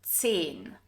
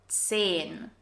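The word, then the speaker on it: zehn: And 10. The H here is a silent H and its sole purpose is to stretch the E vowel or E sound longer. 10.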